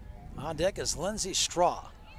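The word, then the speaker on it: Strauch: And that's going to bring up Lindsay Straw. It's spelled different from what it sounds. It's pronounced straw, but it's s t r a u c h.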